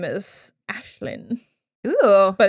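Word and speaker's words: Aislinn: also um in real life her name is ashlynn ooh but it's spelled all gaelic so it's a-i-s-l-i-n yes it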